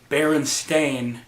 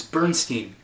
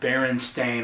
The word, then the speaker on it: Berenstain: And then once they hear it pronounced Berenstain, you're like, why are you pronouncing it that way? It's Bernstein. What do you mean it's been pronounced Berenstain all along?